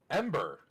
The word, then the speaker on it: EMBR: I actually have it already, Ember? so yeah. Okay, because EMBR. Oh, I thought you meant just regular. Yeah, not actually spelled like Ember, but like.